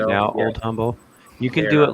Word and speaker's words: Humble: It's Yeah, the H is silent. The H Just is silent Humble.